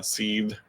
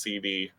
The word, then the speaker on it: SeeD: 8 how it's uh seed like seed burns with and it's spelled uh s e e capital d he he said that he was convinced while playing the game that it was pronounced cd oh no yeah and